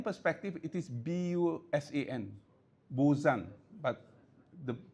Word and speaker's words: Busan: From spelling perspective, it is B-U-S-A-N, Busan, but the correct pronunciation is Busan, yeah?